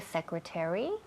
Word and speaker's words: secretary: is the secretary Secretary, primera sílaba.